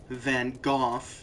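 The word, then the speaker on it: Van Gogh: Uh, Van Go or Van Go or Van Go, depending on how correct you want to pronounce it. Van Go if you're English and a hoy toy. Uh, Van Gooff if you think you know other languages but you don't.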